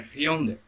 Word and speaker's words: Hyundai: Por isso que, assim, só a título de curiosidade, aquela marca de carro que todo mundo fala Hyundai, na verdade seria Hyundai. A pronúncia coreana é Hyundai.